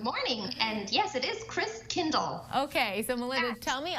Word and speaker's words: Christkindl: And yes, it is Christkindl. Okay, so Melinda, tell me all about what's going on this year so we can feel like we're at a market even from our living room. So Christkindl Live was created because, you know, Corona, and